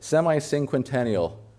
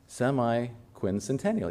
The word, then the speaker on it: semiquincentennial: Semi sing, how would you say that? Semiincquentennial. No. Oh my gosh, I said that so many times. Semiquincentennial. Yeah, I think I said it right.